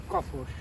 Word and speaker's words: Kapos: Is it Kapos or Kapos? It's Kapos.